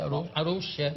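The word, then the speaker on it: Arouche: Exatamente, Arouxa. E ela tem uma pronúncia muito elegante, ela escande as palavras, sílabas.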